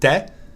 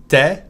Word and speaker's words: tu es: You know that tu es, the French will almost always pronounce it te. Te sounds very much like te. Sometimes the French will pronounce te really instead of te.